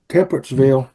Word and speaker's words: Temperanceville: 15th I believe it's in uh is it pronounced Temperance Ville Virginia Temperance Ville correct okay and we're near we're down there